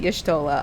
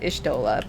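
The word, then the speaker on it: Y'shtola: dola oh there okay there are different pronunciations some pronouns that pronounce it yeshtollah others do ish dola but i don't know i kind of i kind of you know weave between the two you are ready then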